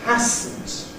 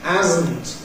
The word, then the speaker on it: hasn't: This student thinks that it's hasn't. And for Spaniards perhaps, but it isn't. It hasn't. We pronounce this with a voiced sound, hasn't, as hasn't.